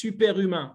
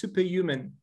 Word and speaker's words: Superhumain: In France, we pronounce superhumain with a French style. But during this discussion, I will pronounce superhuman for better comprehension, okay?